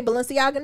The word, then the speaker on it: Balenciaga: be like Gucci and how you say Balenciaga Nero.